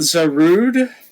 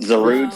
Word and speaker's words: Zarude: Zerude. No, no, not Zerude. Zarude. However it's pronounced.